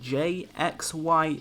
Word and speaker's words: Jxye: your name is it jxy e yes so it's just pronounced J um so the x is just like rep replace the a with an X for some reason so